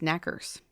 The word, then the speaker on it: knockers: it now fun fact the name knockers is actually pronounced knackers yes I learned that